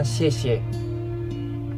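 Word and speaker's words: 谢: Tulisan di atas kue bulan ini bacanya xie.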